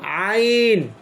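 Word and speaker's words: ع: আইন আইন আইন আইন উচ্চারণটা গলার মাঝখান থেকে আসবে, হলকের মধ্যখান মানে হচ্ছে গলার মধ্যখান।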